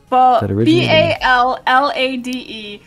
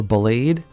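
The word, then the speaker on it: Ballade: How's it pronounced? It's pronounced Ballad. Ballad. Ballad. Oh, his name's. I was wondering if it was Ballad or Blade.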